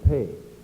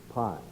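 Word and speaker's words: Pei: famous architect i am paige you know as i do that this name is spelled p e i and most of us would probably pronounce it pie this plan was then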